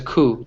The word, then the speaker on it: coup: we call that a coup in English or E so there was a coup yeah there's a P but the P is silent all right so it's a coup just a cool I